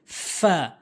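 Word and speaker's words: ف: এরপর হচ্ছে ফা, ফা, ফা, নিচের ঠোঁটের পেট, উপরের দাঁতগুলো নিচের ঠোঁটের পেট। ফা, ফা, ফা, ফা, এভাবে উচ্চারণ করবেন।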